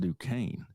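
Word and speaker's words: Duquesne: team that spells their name without a C or a K and is pronounced Dukane.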